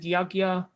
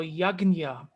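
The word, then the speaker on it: यज्ञ: that is why you will sometimes hear people pronounce it yagya that is mostly hindi speakers they will pronounce yagya western scholars will pronounce it yajna there is a very well-known devotee an iskcon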